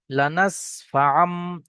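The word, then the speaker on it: لَنَسْفَعًا: তাই তানমিনের আওয়াজকে মিম সাকিমিম এর সঙ্গে পরিবর্তন করে পড়তে হবে। লানাসফাম। এখানে যদি বা মিম না থাকতো বা যদি বা না থাকতো তাহলে কেমন উচ্চারণ হতো? আইন দুজবার আন নুন মত একটা উচ্চারণ হতো। কিন্তু এখানে মিম উচ্চারণ হবে।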